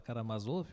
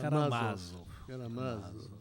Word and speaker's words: Karamazov: Todo mundo fala Karamazov, mas dos na irmãos verdade é Karamazov.